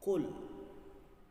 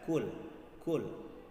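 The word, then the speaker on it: قل: Banyak di antara saudara-saudara kita yang membaca dengan mudah saja dengan membaca kul. Kalau kita baca huruf kul, hurufnya seperti ini. Sementara tulisan dalam Al-Quran bacanya adalah qul. Jadi bedakan antara qaf dengan kaf.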